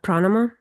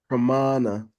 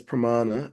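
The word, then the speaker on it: प्रमाण: Is that pranama? Pramana. Mana. Yeah, there's a long A in there. Okay, good. Yeah, it's Pramana.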